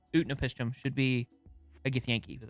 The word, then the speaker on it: Utnapishtim: I feel like Utnat should... I keep mispronouncing his name. Utnapishtim should be a Githyanki, but that's just me.